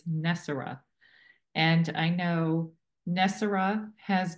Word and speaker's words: NESARA: as you have tell told me the correct pronunciation is not nisara it's nessar and I know nessar has been a folklore